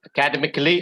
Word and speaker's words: academically: Academically or academically? Where's the stress? First one.